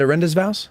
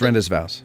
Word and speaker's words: rendezvous: around 40 bucks at orinda's vows well it's pronounced rendezvous rendezvous okay um they bought